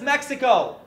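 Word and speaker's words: México: Latin America is not just Mexico. Actually pronounced Mexico, pero whatever.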